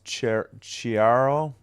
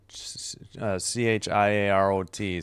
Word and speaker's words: Chiarot: That's Chiaro. Chiarot. Sorry. Got to get these pronunciations down.